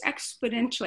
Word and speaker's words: exponentially: And our empathy grows exponentially. I never say it right. Exponentially. Thank you. Thank you. I always want to put a D in there.